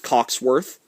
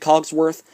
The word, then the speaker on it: Cogsworth: This is the special edition of Belle's Magical World, the 2003 VHS with Coxworth. Clockworth, is it Cogsworth? Anyways, yes, on the side. Sorry that I mispronounced his name.